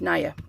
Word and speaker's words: Nia: Nia. It's pronounced Nia. Okay. I should probably write that on there. Nia. Nia's tree. They should spell it like it sounds, right?